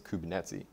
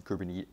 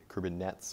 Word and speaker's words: Kubernetes: didn't what they meant pronouncing kubernetes kerbin nets for a while is what it is um but as i